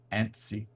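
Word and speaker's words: Annecy: really good uh they will be at the ansy animation film festival in France right understand it's pronounced ansy an French may I don't speak any French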